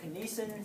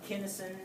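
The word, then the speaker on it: kinesin: since I'm a Texan I pronounce it kesan some people pronounce it Kinison I don't care right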